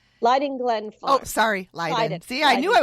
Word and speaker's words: Leyden: sorry, Leyden. See, I Leyden. knew I was pronouncing it wrong.